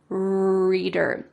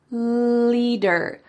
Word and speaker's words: leader: So instead of saying leader, I heard him say reader instead of leader, reader. So if you want to make a clear L sound, your tongue can go between your teeth.